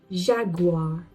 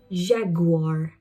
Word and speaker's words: Jaguar: Jaguar. Jaguar.